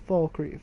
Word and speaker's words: Falkreath: By the way, for people who cannot pronounce Falkreath's name right, it's Falkreath.